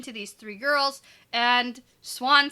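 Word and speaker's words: Siuan: on yeah well it's it's swan it's suwon but i say it fast so it's swan you're confusing me with your pronunciation you can say swan yeah that's what i do say yeah but if you slow it down it's sue on s-i-u is sue swan swan okay moving on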